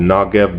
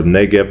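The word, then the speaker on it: Negev: quadrant that would um U be called the nagev desert or neev desert however people pronounce it now uh it's a it's a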